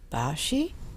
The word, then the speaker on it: Basche: show beside me to my right is steve bashi i thought i pronounced your last name right yes ma'am so